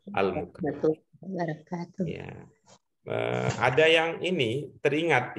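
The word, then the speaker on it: المكلف: Mungkin karena tadi bacanya di buku, jadi bacanya Al-Mukallif ya. Ya. Walaupun ada di gitu ya Al-Mukallaf ya, bacanya adalah Al-Mukallaf.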